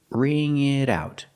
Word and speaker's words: ring it out: And the pronunciation ring it out. The t and it changes to a fast d because it's between vowels.